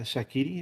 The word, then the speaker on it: Shaqiri: And then you look elsewhere in the league, and Chicago Fire just got Shaqiri. Is that how you pronounce it? That's it.